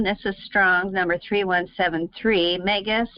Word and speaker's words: Megas: Megas, pronounced Megas, and it shows here all the explanations.